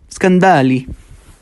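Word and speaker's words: Scandalli: Scandale.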